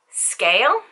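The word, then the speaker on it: Sgaeyl: ah here we go so Satan's dragon is named s g a e y l now I've heard people say scale which kinda kinda makes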